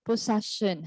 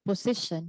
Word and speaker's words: possession: properly for example uh someone would ask you or interlocutor would ask you what's your favorite possession so that's talking about something that you have and then when you reply you would say my favorite position so that's really different so that's really different meaning okay so you have to